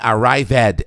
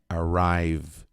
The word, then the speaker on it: arrived: Não, esse E não é pronunciado. Não é learned, é learned, learned, learned. Não é arrived, é arrived, arrived, arrived, chegado.